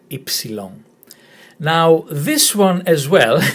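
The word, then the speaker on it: ύψιλον: This is the letter Ypsilon. Ypsilon. If you remember Tipsy Long, and you take away the first and the last letter, Ypsilon.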